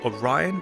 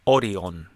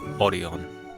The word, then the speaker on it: Orion: However, if you were to ask for "Orion" in Okinawa, you might get some confused looks because they actually pronounce it "oh-REE-ohn" So, if you are